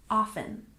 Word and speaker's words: often: often we tend to drop the T sound in this word and we stress the first syllable often often and yoga we